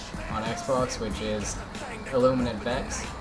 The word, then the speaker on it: vexe: Xbox, which is illuminant vexe. The E is silent.